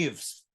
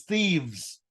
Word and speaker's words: thieves: I've met many people who put this VES but they still pronounced with the F sound like leaves wives th thieves is wrong it's thieves do you understand that